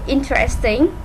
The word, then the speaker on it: interesting: Okay, try to add the st sounds.